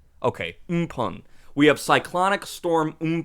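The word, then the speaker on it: Amphan: and we have cyclonic storm and fan is pronounced in pun okay Pung we have cyclonic storm in Pond in the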